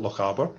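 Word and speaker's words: Lochaber: uh so that's alloy this is great for the pronunciation starts at loch harbour but if you're not scottish it's a difficult one um so we um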